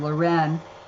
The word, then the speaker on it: Leuren: Mine is the French pronunciation, Leuren, and his is the Dutch pronunciation, Laurence.